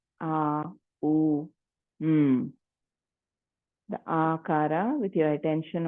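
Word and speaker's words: Aum: today let us chant the M split up into three syllables a u m the aara with your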